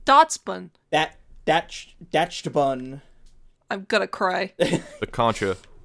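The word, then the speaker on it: Dachsbun: Like Dotson. Like Dotson, but Dotspun. Dashbun. It's not Dashbun, it's Dotspun.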